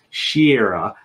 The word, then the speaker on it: Shira: I am going to put this up again because now I know it is Shira. So now I've pronounced it correctly.